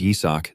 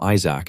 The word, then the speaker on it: Yisak: Even though his name is Yisak, these guys always pronounce it wrong and call him Isaac instead.